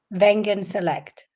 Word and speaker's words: Wengen Select: Founder of, do I pronounce correct? Wengen Select? Wengen Select. Wengen Select. Okay, thank you.